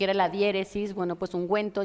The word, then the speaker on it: ungüento: la diéresis Bueno pues ungüento lleva esa diéresis que son esos dos puntitos horizontales sobre la u para eh pronunciar esa u no después de la G eh hay que decir